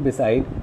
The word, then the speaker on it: beside: Similarly, in beside, we have the stress on sir, that is side.